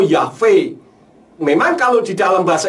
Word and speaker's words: Yahweh: Nah, dari keterangan transliterasi yang saya tadi sampaikan, kalau di dalam bahasa Indonesia orang mengatakan YHVH, seharusnya membacanya bukan Yahweh tetapi Yahbe atau Yahve.